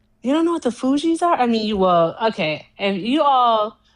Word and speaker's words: Fugees: It's the Fugees.